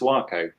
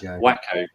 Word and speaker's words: Waco: Waco is pronounced Waco, not Wacko. Or Waco.